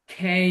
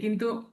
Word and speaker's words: K: জেই, I, জেই, J, খেই, K, খেই। এই K, যে আমরা এখানে বলি কে, কিন্তু ওরা উচ্চারণ করে কে উচ্চারণ করে না। খেই, খেই, খেই।